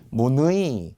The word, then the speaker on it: 문의: 문이는 역시 자음 플러스 의니까 발음은 이로만 나겠지만 로마자 표기는 무조건이라고 했어요. 이제 문이는 고유명사가 아닌 일반 명사잖아요. 소문자 무 그리고 느이라고 적어야 합니다. 문의, 문의가 예뻐요, 문의가 아름다워요.